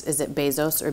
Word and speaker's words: Bezos: most successful people in the world and it's Bezos it is and in fact I'm doing all